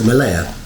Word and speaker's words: Mellieħa: fact that you know, Mellieha. Yes, I think the lady said the iron together makes an A sound. So Mellieha.